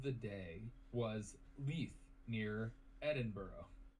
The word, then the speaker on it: Edinburgh: Edinburgh is still one of the most...